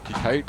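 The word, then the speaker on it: Qayqayt: chief of the the kite Nation kite is pronounced kite and it means resting place thanks to Chief Ronda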